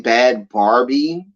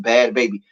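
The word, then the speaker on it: Bhad Bhabie: It's pronounced Bad Baby.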